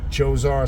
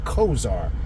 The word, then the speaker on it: Chozzar: with the deity who some will pronounce choar some say Kar c h o z z a r depending you'll get two different pronunciations of it uh not